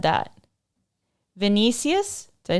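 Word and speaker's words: Vinícius: And then as soon as I said that, Vinicius, did I say it right?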